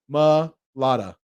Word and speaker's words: Mailata: haha yeah it's it's it's just mulatta ma just say ma lada it's pretty easy m a ma ma lada i know some people